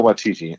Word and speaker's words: Waititi: think you may be right and it's Taika Waititi I said right I'm proud of myself what